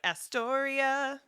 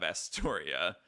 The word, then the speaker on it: Astoria: you taught it too it's a four syllable name asor that ends with